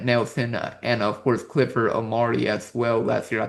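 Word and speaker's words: Omoruyi: men with Grant Nelson and of course Clifford Omari as well last year. I think that's how he pronounced his name. It was a little bit Amorei.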